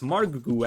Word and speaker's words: Margougou: uh margu actually uh apparently i've been been pronouncing that wrong for the last half a year or so apologies for that so it's margu actually but we fix